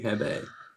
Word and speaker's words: Hebe: It was Hebe. It's definitely Hebe.